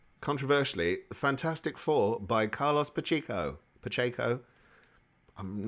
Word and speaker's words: Pacheco: would call it, controversially, Fantastic Four by Carlos Pacheco. I'm not good at name pronunciation, and my apologies, Carlos. Pacheco's correct.